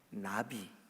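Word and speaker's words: נביא: 더 살펴 볼 텐데 히브리 말로 나비 라고 발음 해요 나비 이게 뭐냐 하나님의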